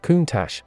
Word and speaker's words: Countach: of the name countach it is pronounced kuntash and its literal translation